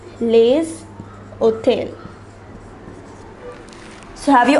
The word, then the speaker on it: les: that is in plural will be preceded by lay for example we saw the word garson for